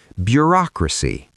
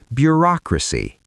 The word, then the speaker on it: bureaucracy: bureaucracy The stress falls on the second syllable, bureaucracy. One more time, bureaucracy.